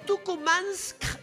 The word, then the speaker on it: Tucumán: no no no te creen escrito se dice tucumán siempre terminando como la ven humana y thiago